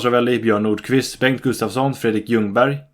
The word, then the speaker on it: Ljungberg: Bo Larsson, Kalle Svensson, Thomas Ravelli, Björn Nordqvist, Bengt Gustafsson, Fredrik Ljungberg. Yes, the L is silent.